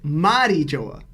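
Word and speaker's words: Mariejois: correctly by the way go look it up the pronunciation in Japanese is M joa okay so eat one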